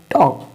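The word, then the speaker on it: talk: टॉक आप देख रहे वो के से पहले एल है और जो एल साइलेंट मड में है एल साइलेंट मूड में ही रहेगा अगर के से पहले आएगा यहां देखो यहां पढ़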